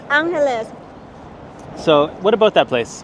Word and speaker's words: Angeles: for the longest time I was just thinking it's like Los Angeles right it's Angeles so what about that